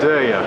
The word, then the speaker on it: Derya: Derya. Derya. Yes. I know it's difficult to pronounce, but they are worse than ours in Turkish language.